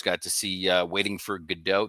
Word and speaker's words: Godot: Got to see Waiting for Godot. They pronounce it Gatto for some reason in this performance, which is odd.